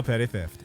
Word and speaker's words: Petty Theft: That is how it's pronounced. 2 P's at the beginning, 2 T's at the end.